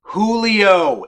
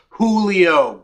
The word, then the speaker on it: Julio: might return to normal Julio it's pronounced Julio God I'm from Saskatchewan and I know that so having realized his